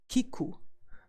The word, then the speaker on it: 聞く: hear or to listen we pronounced to hear or to listen as Kiku and good way to